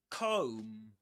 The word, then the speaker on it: comb: This is again comb. Comb. The B silent at the end. Yeah. You don't say comb comb, but comb comb comb.